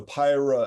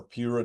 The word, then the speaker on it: PIRA: discuss it yeah so pyra again or PIRA depending on how you pronounce it p r a progression